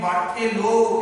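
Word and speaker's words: Berthelot: 1865 খ্রিস্টাব্দে 1865 খ্রিস্টাব্দে বার্থেলো, এখানে বার্থেলো এই কথার উচ্চারণ হবে, টি এর উচ্চারণ হয় না, কেমন? তাহলে বার্থেলো যেটা করলেন, কার্বন আর হাইড্রোজেনকে মিলিয়ে মিথেন গ্যাস তৈরি করলেন।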